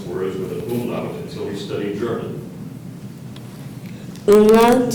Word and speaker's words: umlaut: Gary did not know how to pronounce words with an umlaut until he studied German.